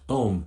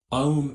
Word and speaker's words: Om: own which is pronounced in sanskrit o is a diphthong formed by combining the sounds a and u the adaptation developed the